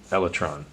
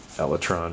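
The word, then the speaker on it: elytron: It's the um electron. People pronounce that however they want. It's the elatron right here.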